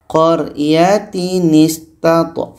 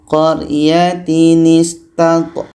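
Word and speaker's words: قَرْيَةٍ ٱسْتَطْعَمَا: Ketika tanwin bertemu hamzah wasal hukumnya nun wiqayah. Cara baca nunuah tanwin ini kita buang satu barisnya kita ganti dengan nun yang berbaris di bawah. Contoh idza ataya ahl qytatinistatama qoryatinistat qoryatinistat qoryatinis ada nun wiqayah.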